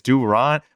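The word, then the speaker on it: Durán: Ezekiel by the way is it Duron is that what I heard will it's D Ron will flemingan pronunciations he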